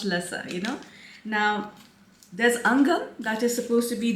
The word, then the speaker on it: Angham: the name angam okay it's not actually not that difficult it's angam so it's a NG Ang and um so angam you know now do